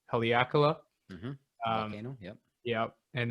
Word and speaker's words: Haleakala: We did I always mispronounce it. I think it's Haleakala.